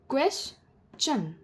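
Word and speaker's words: question: के पहले एस है मतलब जिन वर्ड्स के में टी आईओ एन के जस्ट पहले एस होगा उसे हम प्रोनाउंस करेंगे चन कैसे क्वेश चन डाइजेस्ट चन सजेस्ट चन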